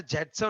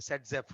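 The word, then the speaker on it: Zaitsev: की थी वो अलेक्जेंडर जेटसेव नाम के साइंटिस्ट ने की थी। किसने की थी? अलेक्जेंडर जेटसेव, जेटसेव। और उसको अगर आप प्रोनाउंसिएशन करें तो कई बार उनको सेटजप भी बोलते हैं, सेटजेफ रूल।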